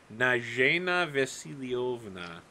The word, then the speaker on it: Nana Vasilioa: Well, um I guess if I'm barred from talking to I've apparently gotten the name wrong three times so far, it's been Natalia and Natasha. It's actually Nana Vasilioa.